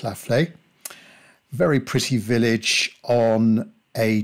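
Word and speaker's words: La Fleix: If you want to look it up on the web, that's spelled L-A, then a space, F-L-E-I-X. I believe it's pronounced La Flaye.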